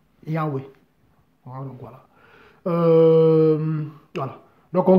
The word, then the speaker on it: Yahweh: Bon, je prononce Yahweh.